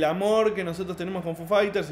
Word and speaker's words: Foo Fighters: foo fighters foo fighters es muy curioso porque los argentinos decimos foo fighters en vez de foo fighters y estas argentinas acá